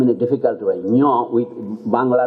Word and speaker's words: Ngũgĩ: You have to pronounce his name in a difficult way. Ngũgĩ with Bangla letter Ngũgĩ. So, and represents Ngũgĩ. In English we mispronounce called Ngugi.